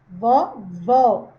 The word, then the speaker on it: vovó: Então, esse vó, essa acentuação aí do acento agudo, tá me dizendo que esse último vó aqui, ó, a última sílaba, ela é a sílaba tônica. E aí eu já adianto para vocês que se está na última sílaba, ela vai ser uma oxítona. Então, o acento agudo, ele vai indicar a sílaba tônica da palavra e vai dar um som mais aberto nas vogais.